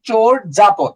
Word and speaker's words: চর্যাপদ: চর্যাপদের উচ্চারণ কি বলেন তো? চোর জাপদ।